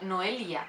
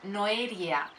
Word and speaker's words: Noelia: os he dicho pues mi nombre no se puede pronunciar como noelia que tiene una ele sino que dice no e iría o sea no hay l básicamente y la ñ